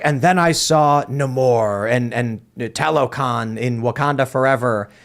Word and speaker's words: Namor: Namor. Is that how it's pronounced now?